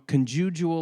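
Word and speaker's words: conjugial: the end of that quote this is from conjug love 180 people harass me online because we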